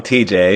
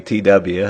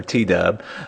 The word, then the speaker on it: TW: time over a year this person got my name wrong TJ it's actually TW or t-dub uh but Julia says